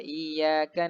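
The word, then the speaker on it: إياك: mendengar salah membacanya karena huruf dia ini dia tidak diterbitkan seolah-olah huruf ya ini tidak memiliki tasdid dibaca Iya karena abu2 Iya Wa iyyaka nasta'in memang Dibaca tasbihnya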